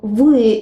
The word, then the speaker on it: вы: It looks like English B, but the sound is V.